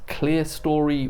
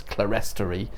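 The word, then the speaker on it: clerestory: the high volted ceiling and what historic England describe as cleartory windows beneath them. A word that I want to pronounce as clarie, something you'd more commonly see in a cathedral here.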